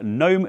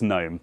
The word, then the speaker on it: GNOME: will point out that the developers of said project have said that they don't really mind which way you say it, both pronunciations are equally as valid so I'm not going to change the habit of a lifetime - it's GNOME. So let's dive in and